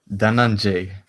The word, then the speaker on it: Dhananjay: Danjanj.